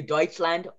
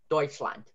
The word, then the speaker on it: Deutschland: But you could do Deutschland, oi, because EU means the oi. The ch, and then sh, and then land. Deutschland.